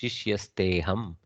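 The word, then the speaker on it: शिष्यस्तेऽहम्: Shishyaste aham. And then because of the ekara, there is a purva rupa sandhi of the akara. That means it has elided and left only the ekara to be pronounced. Shishyasteham, like that. Okay. In written world, we do the avagraha, but in the read world, it is Shishyasteham.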